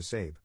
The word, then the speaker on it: Sabe: To cut right to the chase, I legally changed my name to Sabe, pronounced like Abe, but with an S.